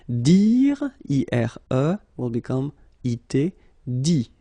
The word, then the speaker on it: dit: Dit. Okay, phonetically, same thing here, you don't pronounce the final T.